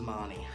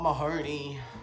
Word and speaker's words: Marnie: got my name wrong I told him it was Marnie not Mahoney and so as that